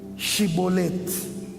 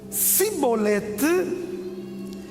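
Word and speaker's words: Chibolete: Se respondessem que não, diziam: então diga Shibolete. Se ele dissesse Sibolete, sem conseguir pronunciar corretamente a palavra, prendiam-no e matavam-nos nos vales do Jordão.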